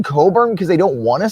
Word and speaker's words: Cockburn: spelt cockburn it's pronounced coburn i've never seen a name where the c and the k in the middle of the name are just silent so like you can